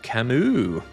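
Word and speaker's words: Camus: It's pronounced Camu. French.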